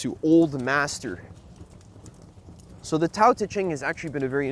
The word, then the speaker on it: Tao Te Ching: And what it's really talking about is, I guess one way you can translate Tao Te Ching is, it's pronounced Dao De Jing, but I never like saying it that way.